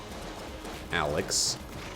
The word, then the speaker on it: Alyx: It's called Half-Life Alyx, spelled with a Y, like Alex Vance.